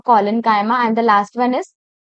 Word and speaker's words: collenchyma: Some students pronounce it like chyma, but it's parenchyma, collenchyma, and the last one is sclerenchyma.